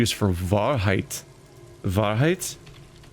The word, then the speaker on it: Wahrheit: W is for Wahrheit. Wahrheit? I'm just assuming German in origin. It's apparently German for truth. I think I was right. It was just pronounced Wahrheit.